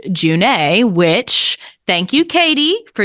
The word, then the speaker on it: June: this Elven God is Not pronounced June even though it's spelled that way it's actually pronounced junee which thank you Katie